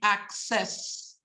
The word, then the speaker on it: access: important very very important words that have a double C the answer they are pronounced like this ax so words like accept words like access these are pronounced with the ax sound I used to call